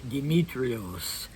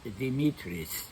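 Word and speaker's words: Δημήτρης: So today instead of William I am the servant of God, Demetrios uh or as the name in is pronounced casually in Greek, Dimitri.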